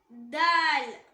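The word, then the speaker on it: دال: Next letter தால். இது same like டா. நம்ம நாக்கோட நுனி அது மேல் வரிசை நடுப்பற்களோட ஈரை டச் பண்ணும்போது உச்சரிக்கக்கூடிய லெட்டர்.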